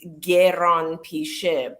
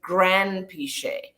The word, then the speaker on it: Granpeesheh: is iranian and so the actual pronunciation of the last name is geron p ship but in english if you put g e r a then it then it becomes very confusing right and people wonder if it's j or how do you pronounce it so when i grew up in england we just turned it into grand piche and that's how you